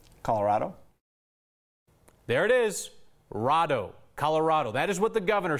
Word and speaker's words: Colorado: us to settle the debate on how you pronounce the name of our state Colorado Colorado what if the right answer is something